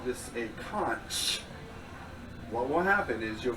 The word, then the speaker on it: Conch: The CH is pronounced like a hard K. Reason why is because that's the way that the islanders speak and spell.